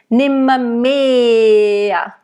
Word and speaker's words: nimmermehr: So, nimmermehr. Make sure it's a nice closed E, not mehr, it's mehr.